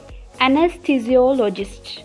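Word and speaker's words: anesthesiologist: ये वर्ड है एनेस्थीसियोलॉजिस्ट, एनेस्थीसियोलॉजिस्ट। तो अब इसको इकट्ठा करके पढ़ें, एनेस्थीसियोलॉजिस्ट, एनेस्थीसियोलॉजिस्ट।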